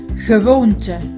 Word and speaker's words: gewoonte: Khi một nguyên âm e mở đứng ở cuối từ, có nghĩa là sau nó không có một phụ âm nào đứng, thì nó luôn luôn là stomme e và mình luôn đọc là ơ. Ví dụ, gewoonte. Gewoonte. Chúng ta có ba âm tiết.